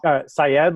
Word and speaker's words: Syed: Moyne like coin and psychology Syed like psychology educator saya and I am an